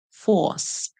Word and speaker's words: force: we have F or Force F or Force this e at the end is silent and remember that in